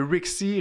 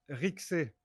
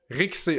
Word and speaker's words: Rixé: OK, fait que c'est même pas Rixie, c'est Rixé. Bah, OK, je suis parfait. français, donc en français ça se prononce Rixé. Après, si tu veux le prononcer en anglais, Rixie, ça me dérange pas.